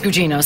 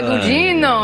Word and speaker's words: Gugino: And I was like, "No, Carla. It's Italian. Carla Gugino." And they went, "Oh, Carla. Carla Gugino." And I was like, "This is where I should be living." Yeah, yeah. They can pronounce my name.